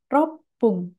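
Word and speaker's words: 六分: Jika kanji roku ini digabungkan dengan kanji menit, maka akan dibaca dengan ropung.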